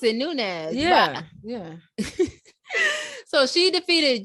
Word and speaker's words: Nunes: and our highlight of the week is amanda newness so amanda defeated juliana p that's how to pronounce it nunez yeah yeah so she defeated julianna pena to